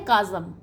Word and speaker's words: chasm: फिर यहाँ पर है काज़म, प्रोनाउंसिएशन देखिए आप इसका, फोनेटिक्स भी देख लीजिए, काज़म, CHASM प्रोनाउंसिएशन होता है काज़म, राइट।